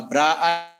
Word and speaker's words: bra: column vector and this actually is pronounced a bra this is row Vector